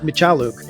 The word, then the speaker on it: Michaluk: Today on the show, we have CrackBerry Kevin Michaluk. He doesn't like to use that pronunciation. Michaluk, right? Michaluk. Raised Canadian, we say Michaluk.